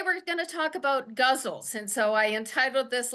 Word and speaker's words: ghazal: But in English and according to the poetry foundation and several other authors that I read, it rhymes with muzzle. So I am going to be calling it a guzzle.